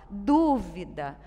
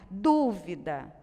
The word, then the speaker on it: dúvida: E na palavrinha dúvida, olha só a sílaba tônica aqui. Oxítona, paroxítona, proparoxítona. Então, tem que acentuar o U, tá? Olha a diferença de duvida e dúvida.